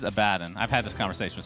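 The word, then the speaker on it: Abaddon: I I got confused the correct pronunciation is a bad and I've had this conversation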